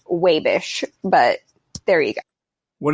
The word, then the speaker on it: Wabash: Also, it is not actually Wabash. If you're from Wabash, it's pronounced Wabish, but there you go.